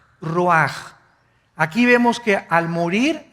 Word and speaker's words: ruach: Isaac Qué cosa el ruaj que se escribe r u a c h ruach en el hebreo y se pronuncia igual ruaj Aquí vemos que al